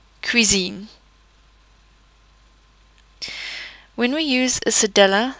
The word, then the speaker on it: cuisine: However, a C would be pronounced as a K when it is followed by the letters A, O or U. For example, cuisine.